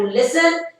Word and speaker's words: listen: We had to listen carefully to the instructions to understand what we had to do. T is silent, right?